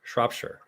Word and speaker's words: Shropshire: Rory breaks so shrop shrop is pronounced but the oh sign like the Owen shop and the Shire sounds like sure so it'd be more sure Shropshire there we go shop